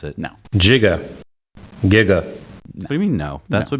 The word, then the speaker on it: Giga: charged as one point jugo watts our friend ed reminded us that or Giga can actually be pronounced either way soft G or not so we're gonna play